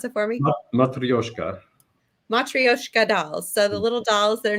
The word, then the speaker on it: matryoshka: kid the i can't pronounce them will you pronounce it for me matryoshka so the little dolls they're nesting dolls that